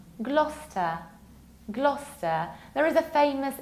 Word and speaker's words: Gloucester: It's not Gloucester, Gloucester, Gloucester. No, forget about it. Remember about our rule. You skip middle CE, so you pronounce it like Gloucester, Gloucester.